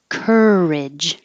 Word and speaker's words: courage: This one, courage. Now the vowel is which is really just the R, the tongue in the R position, and making noise.